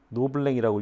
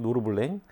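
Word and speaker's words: Norblin: 이게 이제 세바스티엔 노블린 작품이고 1825년 프랑스 와갔군요. 노블랭이라고 읽어야겠네. 그냥 노르블랭.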